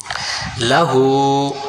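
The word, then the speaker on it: لَهُ: লাহু, লাহু, হু কয় আলিফ, এক আলিফ টান।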